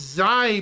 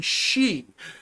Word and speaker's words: Xi: Well, it's funny your name is Chai, because my in-game name is pronounced Zai by me, but it's actually She, in honor of the She Gundam from Mobile Suit Gundam Hathaway.